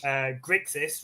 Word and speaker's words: Grixis: Grixis rhymes with sexiest for a reason.